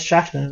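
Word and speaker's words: Shachtman: real like Christian beliefs uh shockman or I guess shackman is probably more common prononciation Max shakman um started the kind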